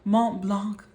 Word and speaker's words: Mont Blanc: And then this one, this is the Mont Blanc, whatever, that's totally mispronounced, but the Mont Blanc, whatever. I know the C is silent, yada yada, whatever.